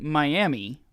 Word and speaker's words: Miami: you hear me say Miami it is spelled just like Miami Florida it is pronounced Miami right because that's how